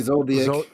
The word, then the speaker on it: Zoldyck: It's supposed to be Zoldyck. Zoldyck, right? Yeah, it's supposed to be some extra shit in the actual. Tuka, when you say Zoldyck family, like who specifically though?